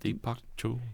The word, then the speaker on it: Deepak Chopra: Deepak Chopra.